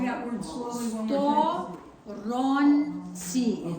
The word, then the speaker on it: сторонці: Сторонці. Сторонці. Say that word slowly one more Сторонці. time. It's Okay. 3 And syllables. that's where I'm just trying to celebrate. So, not like Storonці.